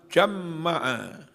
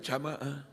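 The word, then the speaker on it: جمّع: Anna awwala man jamma'a. Kadang-kadang yang enggak biasa baca hadis, bacanya jamaah.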